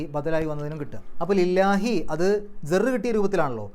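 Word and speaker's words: لِلَّهِ: ജർ ആയിട്ടുള്ള ലി വന്നു അപ്പൊ ലില്ലാഹി കസർ ഉള്ള അക്ഷരം ആയതുകൊണ്ടാണ് ലാ എന്നുള്ള ഉച്ചാരണം കൊടുത്തത് ലില്ലാ എന്നുള്ള ഉച്ചാരണം കൊടുത്തത് ലില്ലാഹി അവസാനത്തിൽ ഹി കസർ കിട്ടാനുള്ള കാരണം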